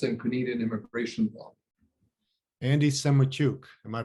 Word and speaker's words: Semotiuk: i do us and canadian immigration law andy semaychuk am i pronouncing it correctly yeah senator andrei in ukrainian